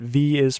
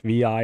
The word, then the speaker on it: Vi: to pronounce correctly, but V is pronounced like VI is pronounced V, not Vi. There's a reason for it, which is actually a little confusing, but yeah, just think V as in B.